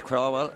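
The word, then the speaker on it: Craughwell: Yeah, Crowell, yeah.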